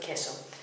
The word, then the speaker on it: queso: The U is silent. And the example was queso for cheese. It's not queso but queso.